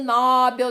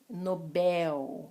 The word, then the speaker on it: Nobel: Todo mundo fala Prêmio Nobel da Paz, não é Nobel nada. Nobel, Nobel, última sílaba mais forte.